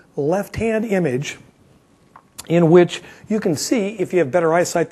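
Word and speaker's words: Cairns: brisbane and so on and cans notice i pronounced that correctly cans they beat that into me too i still say it should be carns but they want to insist on cans but i can do that so what we've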